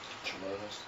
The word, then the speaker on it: Jamaz: How do you pronounce that? Jamas.